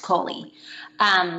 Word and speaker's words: Coli: my name is Kohli it is spelled like e.coli but it's pronounced Kohli people get that wrong